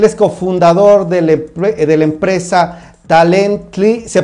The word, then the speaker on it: Talently: Él es cofundador de la empresa Talently. ¿Se pronuncia así? ¿Cómo se pronuncia, Cristian? Hola, Miguel. Hola, sí, hola. Perfecto. Talently.